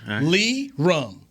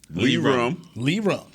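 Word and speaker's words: Lirim: That's how you pronounce it. Yes, it is. Lee. Okay, so Lee Rum. Lee Rum.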